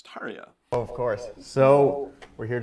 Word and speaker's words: Tarja: say it that poorly tarja is totally wrong right it's tarya of course so we're